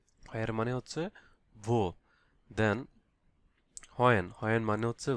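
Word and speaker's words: wo: এখানে হয়ার, হয়ার মানে হচ্ছে বো, হয়ার মানে হচ্ছে ভো। দেন হয়েন, হয়েন মানে হচ্ছে ভান, এটাকে বলা হয় ভান। এখানে ডাব্লিউ কে ইংলিশ ভি উচ্চারণ করা হয়।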